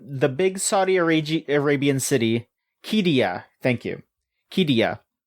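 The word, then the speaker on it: Qiddiya: Q I D I Y A KIA Quidia. It's um the big Saudi Arabian city Kia.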